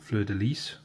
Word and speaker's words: fleur-de-lis: It's okay to get it over that fleur-de-lis. Again, I've been corrected on my pronunciation, so I hope I'm finally doing it right. Fleur-de-lis, because you really pronounce a hard S.